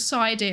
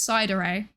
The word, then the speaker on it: Psydere: If you put side in chat, which is the incorre incorrect pronunciation of my name, it's cider like sundere or dere or yandere if you are that way inclined.